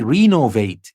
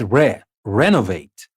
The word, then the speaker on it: renovate: As you noticed here, I didn't say renovate. It's not renovate or recompense. It's renovate, recompense. Sometimes it's re, sometimes it's re.